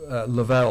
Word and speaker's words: Love: Lavel or Love Hunter. He goes by love. L O V E. Love Hunter.